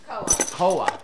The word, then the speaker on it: Koa: Koa. This is Koa.